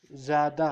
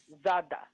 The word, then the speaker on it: زادا: Za ad زادا. زادا There is no vowel on alif. زادا. زادا زادا Yes. زادا So alif is silent here. Thank you. Zada.